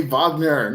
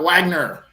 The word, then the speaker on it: Wagner: enunciations I was like can you please say Vagner not Wagner well I mean the